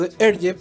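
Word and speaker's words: Hergé: historietista belga más conocido con el seudónimo artístico the air jeff porque esa era la pronunciación en francés de sus iniciales invertidas hereje de remy y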